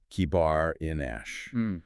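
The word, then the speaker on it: kebar enash: Kibar inash, one like a son of man.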